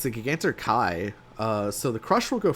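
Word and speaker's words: Giganter Kai: It's pronounced Gigantor Kai, hope that helps. It actually does help because I'm pretty sure when I made these proxies, I called it Gigantor Cal. I thought this was an L.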